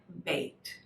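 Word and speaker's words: בית: the word bet but it's actually an a y sound bait so if i was to spell it as it sounds it would be b-a-y-t or sometimes you know you can have a bait box right like all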